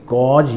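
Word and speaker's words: gauge: Term ये कहलाती है आपकी गॉज या गेज प्रेशर, जिस भी तरीके से आप इसको प्रोनाउंस करना चाहो, ठीक है।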